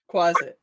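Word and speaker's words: quasit: Another uh, Callum, now that you're back, can you tell me the proper pronunciation? Is it quazit? Yeah, quazet.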